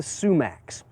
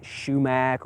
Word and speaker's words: sumac: fall color are the sumacs. Now, some people may pronounce it shumac or shumake, but generally sumac is more accepted.